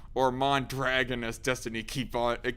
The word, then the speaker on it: Mondragon: united states and whatnot was a company called mondragon or mon dragon as destiny keep on it kept on pronouncing it as because he's too much of